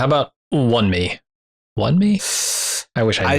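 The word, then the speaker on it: Wunmi Mosaku: Let's see here if these pronunciation sites can get it done. Yeah, Wan Mi Mosaku.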